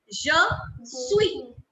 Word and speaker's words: suis: Je suis. I will keep the last S silent because consonants that come in the end in French are kept silent. We do not give them their sounds.